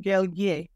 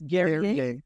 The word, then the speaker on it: Guerrier: It's pronounced Guerrier for those of you that are looking at it, but he gave me a cheat code to make it sound like Perrier. It's Guerrier.